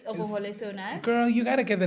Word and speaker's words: Ohole So Nice: The host of Ohole So Nice, Hanchika Pofi. Yeah, boy. Actually, you said it wrong. It's Ohole So Nice.